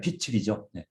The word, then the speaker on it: 빛: 한 번 빛을 받고, 빚이 아니라 빛을이죠.